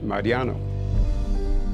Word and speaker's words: Mariano: Okay, my name is Mariano Martinez, pronounced in Spanish, Mariano.